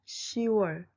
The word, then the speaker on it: 시월: In Korean, words for June and October are read and written as 6월 and 10월. If you write them as 6월 and 10월, it's wrong. Keep in mind, please, that this is an exception that has changed in a long history of language. 6월, 10월 without the final consonant.